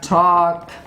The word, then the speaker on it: talk: care it is silent for example we have walk we have talk so walk talk this uh two words you see that it is used before uh cat and it is silent but there is an